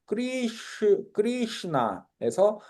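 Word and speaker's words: कृष्ण: 두 개면 리 하면 크리 그리고 얘가 슈 발음이고요. 크리슈나에서 읽어볼까요?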